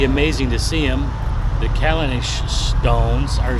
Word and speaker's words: Callanish: the town where the stones are at is pronounced calendars I just asked somebody kalanish and um the stone the stones themselves are